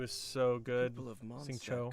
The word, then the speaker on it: Xingqiu: Xingqiu is so good. Xingqiu. I think that's the proper way to say it.